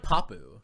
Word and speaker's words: Papoose: it supposed to be oh it's just like papu you know like it's like it's like papa but then papu you know that's like